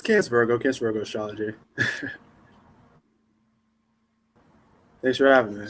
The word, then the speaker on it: CancVirgo: Yeah, it's CancVirgo Astrology.